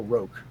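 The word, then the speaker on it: Rokh: It's a funky way of spelling it, but it's R-O-K-H, pronounced Rock or Roke, but I think it's pronounced Rock.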